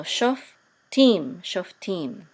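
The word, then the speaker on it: שופטים: This will say e, and this is a mem sofit. So this will be team. So shoftim.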